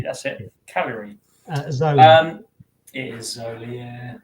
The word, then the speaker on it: Cagliari: How do you pronounce that? Cagliari. That's it. Cagliari.